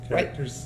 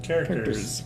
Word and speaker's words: Karacterz: Called Karacterz with Karacterz, right? yeah. Is that how you pronounce it? Karacterz.